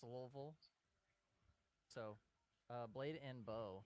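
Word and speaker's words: Louisville: it's out there at lville it's and it pronounced lville so uh blade and bow comes with a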